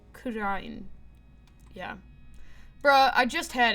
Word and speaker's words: Kurain: So, they usually say it like, ra, sort of. So, like, kurain.